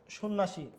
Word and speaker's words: সন্ন্যাসী: সন্ন্যাসী, জফলার উচ্চারণ নাই।